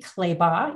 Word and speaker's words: Clabaugh: business yeah sure so I um and claybaugh it's it's pronounced like a y so you did a